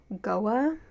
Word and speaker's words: Goa: fact over her, when they make port at Goa, I think is how you pronounce that city's name, Ren brings on this, blonde Barbie bimbo that he's supposedly dating and in love with.